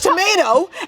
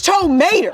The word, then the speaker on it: Tow Mater: talking down to you, I'm saying I Well, never- you're saying my name is Tomato and it's Tow Mater.